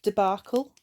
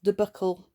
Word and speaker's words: debacle: I would say debacle. We've got that schwa sound in there again, debacle. Rachel's almost sounded to me like buckle, debuckle, that you put on a belt or on your shoe.